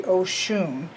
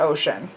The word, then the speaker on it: Oshun: comfortable and saying that it should be Oshun and stop or it but certainly not ocean I do like this